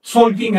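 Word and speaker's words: Tzolk'in: El Tonalpowali, también llamado en maya Solkin en la actualidad. Se pronuncia con S.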